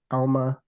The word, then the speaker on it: Alma: for us please um so in Ghana where I'm originally from my name will be pronounced Alma okay all right I